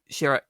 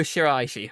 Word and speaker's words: Shiraishi: uh junya andoki and was voiced by ryoko shira damn it ryoko shiraishi from pronounced it wrong sorry and there's also a